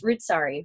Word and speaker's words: Roodsari: It's Roodsari, right? Is that how you say it? It is.